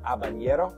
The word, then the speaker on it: habanero: is oh yeah habanero H is silent habanero is that how you